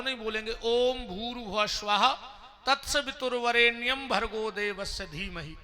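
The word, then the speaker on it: ॐ भूर्भुवः स्वः: ध्यान से सुनना हम हम लोग सीधा ओम भूरवा स्वाहा तत्स वितुर्वेणीयम से बोलने लगते हैं। जबकि शुद्ध उच्चारण है ओम भूर भुवा स्वाहा ओम फिर ओम लगना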